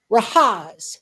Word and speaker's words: Rahaz: His real name is Rahaz. And when he introduced himself, he says, "Rahaz, rhymes with Oz, as in the wizard of."